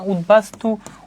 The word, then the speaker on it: উদ্বাস্তু: বফলার উচ্চারণটা বজায় থাকতেছে উত উপসর্গের সঙ্গে বফলা যুক্ত হলে বফলার উচ্চারণ বহাল থাকে যেমন উদভাসু উদবেল এগুলা উত উপসর্গের সাথে